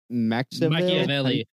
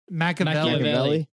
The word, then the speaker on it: Machiavelli: Machiavelli. Machiavelli.